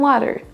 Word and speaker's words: water: Donc ne dites pas I want some water, mais I want some water. Water. Accentuez bien celle qui doit l'être et diminuez l'autre qui ne doit pas l'être.